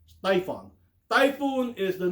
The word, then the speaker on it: Typhon: Typhon tyon missiles no it's not pronounced typhoon tyon typhoon is the name